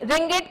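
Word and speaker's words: ringgit: उसके बाद Thailand uses the Thai बात, BAST, थाई बात, you will pronounce this and this stands for the capital B। Malaysia uses the Malaysian रिंगिट, रिंगिट कह पढ़ते हैं हम इसे, और रिंगिट की जो सिंबल है वो है RM।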